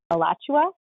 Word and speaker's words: Alachua: So tell us, and I know I did not pronounce the county. It's Alachua County?